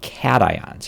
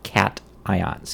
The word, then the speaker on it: cations: positive ions are called cations it's pronounced with the hard c cat ions cations electrons have been lost